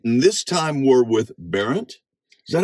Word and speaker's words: Berndt: Well, it's another edition of In the Driver's Seat, and this time we're with Barren.